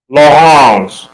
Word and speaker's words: Laurent: The Marcorius and the Laurent. Parce que en français on dit pas on prononce pas le S. Laurent.